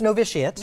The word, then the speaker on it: Novitiate: of it and I didn't know how to pronounce it correctly it's novitiate know this yet which is the school that